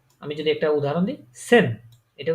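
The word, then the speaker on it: zehn: সেটটাকে আমি যদি একটা উদাহরণ দিই, সেন। এটা উচ্চারণ কি হবে তাহলে?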